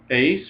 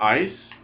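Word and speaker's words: εἰς: Ace or ice. Either way, you can pronounce that epsilon iota as either ace or ice.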